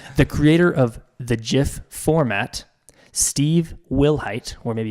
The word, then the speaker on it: GIF: yeah so he says the creator of the jiff format Steve Wilhite or maybe it's Willett I'm